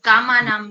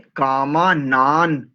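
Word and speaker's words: कामानाम: की कामा नान बोला जो ऊपर अनुस्वार है उसको हम न से उच्चारण करेंगे या म से करेंगे इस पद में पूछ रहे हैं हां जी हां जी कामा नाम जो आपने बोला ना वही सही सही इसमें कामा नान ना बोलेंगे ना मा नहीं बोलेंगे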